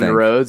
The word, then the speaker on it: Rhodes: out rhodes the new the new it's rhodes roads and check out the caller tell us what